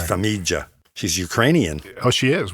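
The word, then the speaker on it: Farmiga: I was looking it up and I wanted to make sure because I was saying familia too. It's it's Famijia.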